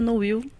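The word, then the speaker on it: Nowill: E eu pronunciei corretamente Dorina Noil? Perfeitamente correto. Porque é às vezes Dorina Noil, Dorina Noil. O correto é Noil, mas também a dona Dorina não se importava de jeito nenhum de que falássemos Novil.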